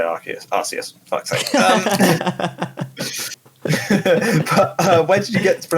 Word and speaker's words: Arceus: But that's how it's pronounced in Japanese, and then it's just transliterated into English.